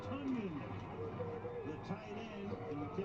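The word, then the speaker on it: Tonyan: It's Tunyon, the tight end, and he takes it to the 30-yard line. Breakout season for him, whose name is spelled T-O-N, but it's pronounced Tunyon.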